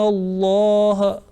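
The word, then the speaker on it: الله: So according to the rule, this Laam will be pronounced with thick sound, not with empty mouth. We will say, Inna Allah.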